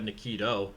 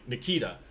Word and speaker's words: Nikita: I don't know why I have Nikito. Yeah, Nikita. Nikita. I looked at the pronunciation because it was different than what I was saying.